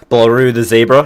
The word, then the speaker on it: BlarueTheZebra: say a name wrong Beck but is it blue the zebra is that how to pronounce it blew the paper yes all right